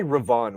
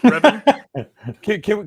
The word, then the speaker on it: Revan: But you remember during why did you say Ravon? Why did you say it like that? Revan?